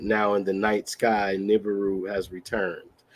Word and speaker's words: Nibiru: I know it's Nibiru. Okay. Or Nibiru, as some people pronounce it.